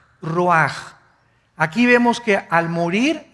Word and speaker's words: ruach: Isaac Qué cosa el ruaj que se escribe r u a c h ruach en el hebreo y se pronuncia igual ruaj Aquí vemos que al